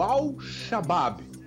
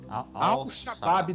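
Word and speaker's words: Al-Shabab: O Glauco, presta atenção na pronúncia do clube, tá? O Al-Shabaab. Al-Shabaab da Arábia Saudita fez uma proposta, aqueles salários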